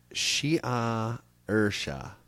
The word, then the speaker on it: Saoirse: Before kissing the name with his lips and pronouncing it Shia Ursha. Yeah. Good luck. The letters don't match up to the sounds in Irish.